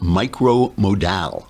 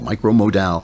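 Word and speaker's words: Micro Modal: the Sun stop lensing micro mode al rhymes with pal micro mode ow it is softer than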